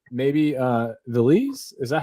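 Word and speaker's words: Véliz: There's the Z's in Spanish, in Spanish, right, from Spain. The Z's are th. Oh, so okay. So it's Beliz. Oh, Beliz. Beliz. Yeah. So you've got like an accent on the e, so it's Beliz. But the Z's. So it's Beliz. But then the Z's in South America, they pronounce them like an S.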